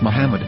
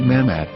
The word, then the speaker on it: Muhammad: after the H according to Ben yehuda's Hebrew English dictionary it is correctly pronounced as Muhammad not mmad so how we're going